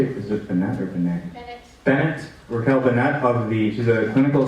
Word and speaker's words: Bennett: Bennett.